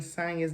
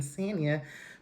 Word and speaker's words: Sonya: So I heard Marlo saying Sonya's name. Sonya's name is Sonya, isn't it? Because Marlo's the only one saying Sanya, but Marlo can't even pronounce her own name correctly.